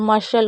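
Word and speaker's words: muscle: उसके बाद सी कब साइलेंट होता है, कभी भी एस सी एल ई आपको दिखे, एस सी एल ई, तो भी आपको सी को नहीं पढ़ना है। जैसे कौर, शक्ल और मशल हो गया।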